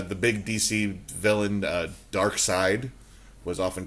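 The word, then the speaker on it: Darkseid: was spelled right I always thought it was dark seed dark seed but uh dark side is uh kind of how it goes like when they first started using in the cartoon but uh it's spelled weird so you could think it was dark seed and dark seed kind of works too because he's the seed of Darkness either way yeah okay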